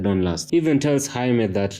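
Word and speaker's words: Jaime: __ ] would she get Jamie out of haime so either he does have an appointment and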